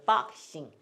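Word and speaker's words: boxing: 그래서 박싱. 예. 우리나라는 이거를 복싱이라 그랬어요. 우리는 여태까지 복싱이라 그랬는데 그 사람들이 발음하는 건 복싱이 아니라 박싱이 된다.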